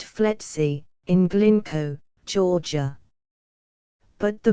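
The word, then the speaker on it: FLETC: law enforcement training center flet pronounced fety in glinko Georgia but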